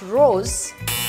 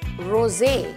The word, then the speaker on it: Rosé: It's not Rose, it's Rosé.